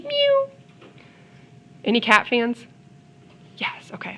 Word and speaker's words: mu: and then this guys you pronounce it new like a little kitty mu any cat fans yes